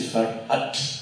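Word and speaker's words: Ferhat: ang prenez la la la prononciation turque de son nom c'est farat puisque les Turques durcissent la dernière consonne et vous avez le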